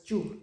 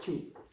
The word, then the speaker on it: giù: that, they have this ju sound. G-I-U. Soft G when there's an I following it. G-U, ju. And it rhymes with più. Più e giù.